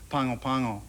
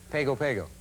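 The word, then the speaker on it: Pago Pago: attempt to pronounce uh pangopango uh oh because we eliminated that from the opening right most people say pegopego or pagopago that's what most people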